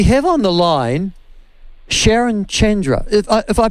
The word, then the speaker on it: Chandra: have pronounced it perfectly so it's chen not chan chandra yep yeah okay and